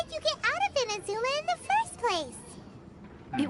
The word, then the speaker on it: Inazuma: Inazuma. That's how you pronounce Oh, so that's why you're here.